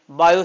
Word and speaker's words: Biot: सबसे पहले किसने बताई बायो सेवर्ट इसका टी साइलेंट है साइलेंट भी बोला जाता है थोड़ा गंदे तरीके से बायो सेवर्ट वो लोग बोलते हैं ना ऐसे बायो सेवर्ट तो वो टी अंदर से निकलता है वो वाला है बायो Savart T silent English is a funny language तो बायो सेवर्ट ने